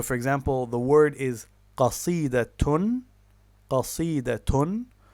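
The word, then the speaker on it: قصيدة: So, for example, the word is qasidatun. Qasidatun. So, what its pausal form is qasida, 3 syllables, but in classical Arabic, when we have case marking, we read it as qasidatun, which gives us 4 syllables, or al-qasidatu, which again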